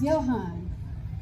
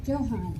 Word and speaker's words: Joan: It's Johan, not Johan.